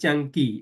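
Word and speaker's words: Caṅkī: The Jianggi, actually this one in Pali is pronounced Jianggi, it should be long.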